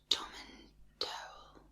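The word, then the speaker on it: Tomintoul: It's pronounced Tommantowel.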